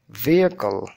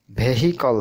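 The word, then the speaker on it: vehicle: করুন university useful useful ভিকল ভিকল ভহকল হবে না হবে ভিকল ভলেন্টিয়ার খেয়াল করুন ভলেন্টিয়ার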